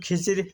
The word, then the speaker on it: খিজির: সেখানে কিন্তু খিজির লিখতে এবং পড়তে উচ্চারণ করতে হলে সেটি জ ধরতে হবে বাধ্যতামূলক।